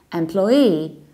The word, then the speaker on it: employee: Polish schools which is employee employee and we have the very same story with the American accent so we say employee employee or employee employees still stressing loss of the second syllable employee or employee and